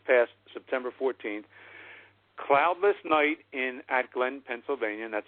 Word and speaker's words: Atglen: Cloudless night at Glen, Pennsylvania, and that's spelled ATGLEN, at Glen, Pennsylvania.